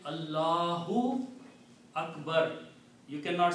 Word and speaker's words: Allahu: When we read it this way, there is an alif in between, we don't pronounce alif. So the word becomes Al La hu. Okay. See again. Al la hu. So we don't write this alif here, and it is written like this. Allahu. Okay. So the Arabic word is not Allah.